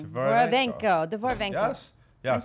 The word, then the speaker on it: Dvorovenko: Dvorovenko.